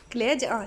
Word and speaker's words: كليجة: قولي كليجة. كليجة. شوفها تنطق الجيم حلو.